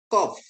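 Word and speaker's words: קוף: lagi kof ya kof kov ya ko pengucapan seperti anda melafalkan quality q ya q atau q ya dalam bahasa inggris ya.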